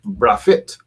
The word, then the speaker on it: Braithwaite: Braithwaite. Some people pronounce it as Brafit.